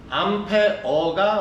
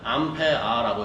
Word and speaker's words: 암페어: 암페어가 원래는 제대로 된 발음. 근데 우리가 쓰다 보면 편하게 발음하다 보니까 암페아라고 얘기하고 있죠.